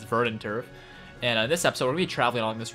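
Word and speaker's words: Verdanturf: to verin Turf town I actually got the name wrong the last time I was call it vendent Turf the entire time but yeah it's verant Turf and this episode we're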